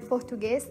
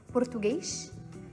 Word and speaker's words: português: So people from Portugal pronounce the word português as português, and in Brazil people usually pronounce the word as português.